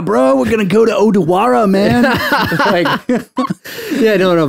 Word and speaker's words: Odawara: gone out to um odawara okay yeah yeah yeah which is still kind of near how sorry dude dude you're not saying it right it's odawara odawara odawara well that's